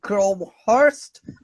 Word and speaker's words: Crowhurst: likewise likewise and uh i hope i pronounced your surname correctly grow hearst is it perfect okay wonderful all came